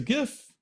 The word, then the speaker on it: GIF: you can download it as a gif as long as you use a hard G when you pronounce it and then you can